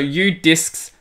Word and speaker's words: Udisks: It has an S on the end, though, so Udisks.